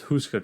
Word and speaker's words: Houska: Czech Republic is houska Castle how do you spell that h-o-u-s-k-a okay now this one Husker Castle okay touches on checks all my books